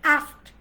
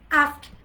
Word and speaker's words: asked: Asked na, it's asked, right? Asked, d এর বদলে t pronounce হবে, asked, asked, asked, asked, asked, asked, asked.